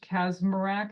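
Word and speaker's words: Kacsmaryk: April 7th, 2023, you've got that, I think he's a Texas judge, Kazmarak is how you say his name, a district court judge in Texas ruled in a case of Alliance for Hippocratic Medicine versus the U.S.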